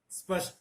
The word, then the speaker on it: स्पष्ट: यहां स्पष्ट से पहले कुछ लोग अ भी लगा देते हैं भ्रमवश, बोलते मैं आपके सामने स्पष्ट करना चाहता हूं।